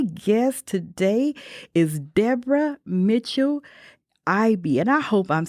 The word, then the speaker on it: Eby: My guest today is Deborah Mitchell Eby, and I hope I'm saying that part of your name right, Deborah. I know I can mess up some names. But Deborah. It's Eby. Eby.